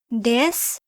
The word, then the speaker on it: です: Des, pronounced as des, is a copula that is used to link a noun or adjective to a subject.